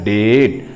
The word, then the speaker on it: debt: B और T, और पहला कॉन्सोनेंट लेटर B साइलेंट हो गया, इसलिए इसका रियल उच्चारण हुआ डेट।